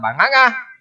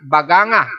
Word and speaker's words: Baganga: sa bandang Davao Oriental sa may northeast ng banganga bagang baganga sorry to say the word mahirap bigkasin e baganga Davao Oriental na ayon sa